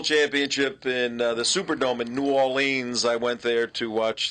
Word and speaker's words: New Orleans: He would say, "This is my town, New Orleans." He'd pronounce it like that. Boy. New Orleans. Everybody that lives there, it's Nolans. But he said, New Orleans.